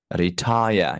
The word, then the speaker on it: retire: children first syllable retire retire you see the second syllable is higher than the first syllable retire mhm now seven